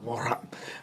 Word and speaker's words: Morin: Morin.